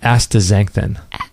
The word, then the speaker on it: astaxanthin: Astaxanthin.